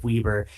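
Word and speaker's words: Weber: Salt Lake Utah and a tiny bit of Weieber as it's properly pronounced southeast of Huntsville.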